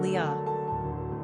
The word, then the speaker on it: Leah: gender girl origin Hebrew number of syllables two ranking popularity 33. pronunciation Lia simple meaning language weary